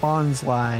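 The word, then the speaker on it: Bonsly: don't remember uh but it occurred to me that Bond's lie is probably the correct pronunciation because right the type tree is called a bonsai and Bonsai also has the word sly in it which you know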